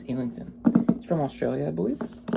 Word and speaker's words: Islington: Look, I would read it Islington, but I think it's Illington.